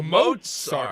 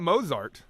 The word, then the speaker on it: Mozart: Gang Amad Mozart oh Mozart there's a t in there now okay Mozart Mozart all right we have that on Authority it's not moart no as I said